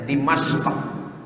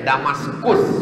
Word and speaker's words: Dimashq: Cara membacanya Dimashq. Orang barat susah menyebut Dimashq. Payah dia menyebut qaf itu karena banyak lemak babi di leher. Nanti bilangnya Dimashq. Jadi kata dia Damaskus, kata dia.